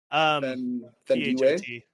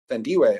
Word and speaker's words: Thandiwe: Thandiwe. Oh, Thandiwe.